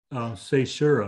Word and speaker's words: caesura: Here there was a definite caesura. Is that how you pronounce it?